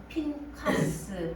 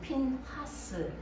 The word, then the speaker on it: 핀하스: 말씀은 핀카스 혹은 핀하스, 발음이 좀 강하게 하라는 발음이 강하게 나서 핀카스로도 읽을 수 있는데요.